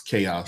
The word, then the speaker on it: Xaoc: Company, even though it's spelled X-A-O-C, it's Chaos.